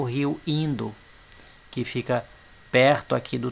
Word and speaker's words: Indo: No Vale do Indo, ou Hindu, como queiram, mas a pronúncia em português é Indo, nas regiões onde hoje